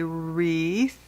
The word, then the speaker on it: wreath: This is a wreath. The W is silent. We say wreath, candle, and stockings.